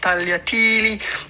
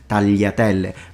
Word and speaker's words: tagliatelle: And then there are situations where the GL has two possible sounds depending on where you're from. And one of these cases being tagliatelle. But it's not that the G is mute and you pronounce the L.